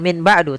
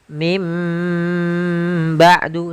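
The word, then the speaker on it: مِنْ بَعْدِ: maka kita bacanya dengan bukan Min ba'du tapi mim ba'du sambil ditahan dengan gunahnya yaitu suara nunnya dirubah menjadi suara huruf mim jadi ikqlab itu merubah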